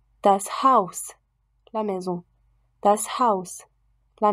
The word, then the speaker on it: Haus: En position finale, par contre, le S est sourd, c'est-à-dire que sa prononciation ne comporte pas de vibration des cordes. Das Haus, la maison.